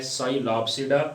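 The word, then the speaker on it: Psilopsida: कि first is दी साइलॉप्सिडा। साई पी एस के अंदर साइलेंट है, इसको हमने पढ़ना है साइलॉप्सिडा, और इनको हम विस्क फर्न का नाम देते हैं।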